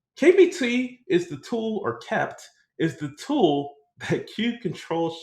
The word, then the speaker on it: kpt: So KPT, pronounced kept.